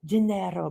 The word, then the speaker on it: Gennaro: Gennaro, but you have to say with the R.